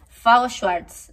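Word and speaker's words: FAO Schwarz: nieve no estuve en fago swartz así se pronuncia es la juguetería de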